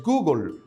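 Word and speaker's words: googol: Existe un número que se escribe Gogol y su pronunciación en el inglés es Google, nombre acuñado por el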